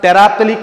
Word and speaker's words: terephthalic: Chemicals required to prepare polyester are, first one, chemicals required to prepare polyester are, first chemicals required for preparation of polyester are terephthalic acid, pronunciation is important.